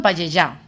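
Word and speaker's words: Pallejà: Hola, me llamo Antonio y vivo en Payellá. Payellá, Barcelona. Sí, sí, bien pronunciado porque yo no lo digo.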